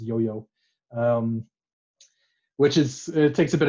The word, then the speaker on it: IOIO: IOIO is pronounced yo-yo, which it takes a bit of tinkering.